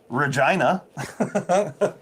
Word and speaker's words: Regina: town name ever rhymes with fun. Regina.